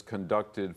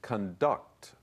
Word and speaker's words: conduct: Be careful of this word's pronunciation because, as you would say in Chinese, it's a 破音字. The verb is conduct, but the noun is conduct.